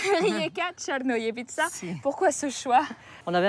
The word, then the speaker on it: Rijeka Crnojevića: Allez, prononce-le. Rijeka Černojevica.